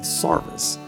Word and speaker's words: sarvis: but in this region it gets called sarvis because the old english way of pronouncing s-e-r-v-i-c-e if you were if you were serving in the king's army the king's service is the old english way of pronouncing s-c-r-v-i-c-e is service well that got remembered